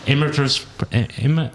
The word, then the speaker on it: emeritus: Is that emeritus?